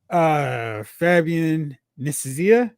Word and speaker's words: Fabian Nicieza: And, Fabian Nicieza, did I say it right?